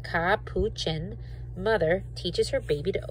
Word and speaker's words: capuchin: a clever cappuccin ca and it tells you how to pronounce it ka puchen mother teaches her baby